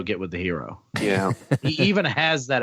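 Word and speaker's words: Herro: Sorry, Chuck, there are no Tyler Hero bets on the board. I don't even know how to say his name. I don't know how to say his name. It's Hero, I think. It's 2 R's. Hero.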